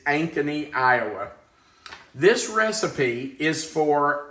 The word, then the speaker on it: Ankeny: the lady said, "Thank you for calling the Ankeny, Iowa Chamber of Commerce." So I'm going to take her word for it that it's Ankeny, Iowa.